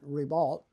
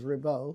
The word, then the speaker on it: Ribault: Well, you're right, and they pronounce it Ribault, the anglicized versus Ribault.